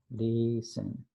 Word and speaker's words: listen: Listen. En esta palabra listen, la T no se pronuncia.